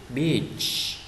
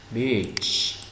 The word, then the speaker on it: beach: Beach. Beach. Bãi biển ha. Cái này đừng có đọc là beach, nặng chút xíu thành con quỷ cái đó nha.